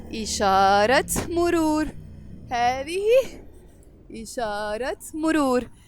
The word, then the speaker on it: إشارة مرور: And this T مربوطة, when it's followed by a noun, we pronounce it. So we will say إشارة مرور.